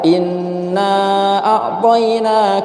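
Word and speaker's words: إنا أعطينا: Biasa kalau kita mendengar ada seorang imam atau seorang qori membaca inna a'toyna, innanya pendek cuma 2 harokat tidak apa-apa. Inna a'toyna kal kautsar, enggak apa-apa. Ada juga yang bacanya 4 harokat, inna a'toyna kal kautsar, ya. Boleh juga yang 6, inna a'toyna kal kautsar, enggak apa-apa, ya. Karena ini emang boleh 2, boleh 4, dan boleh 6 mad jaiz.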